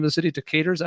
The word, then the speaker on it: Decatur: Decatur, is that how you pronounce that?